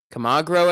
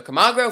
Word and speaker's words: Camargo: ball the battle continues come on grow at the plate that's how you pronounce his last name okay i was reading wrong kamagro so camagro fouling these off and